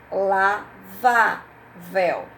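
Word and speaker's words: lavável: Por exemplo, uns, outra palavrinha, lavavel, lavavel. Se eu separar, aqui é uma trissílaba. Se eu separar lavavel, qual é a sílaba mais forte? Vá, certo?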